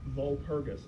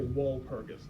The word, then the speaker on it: Walpurgis: How do you say it? Vulparus night. You can also say walpergus night. Wergus night. Vulparus night. Like that. Uh it looks like walrus.